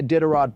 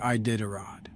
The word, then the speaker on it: Iditarod: I don't see a Diderot propaganda, so I'm going to say a hard no. That's not how you say Iditarod.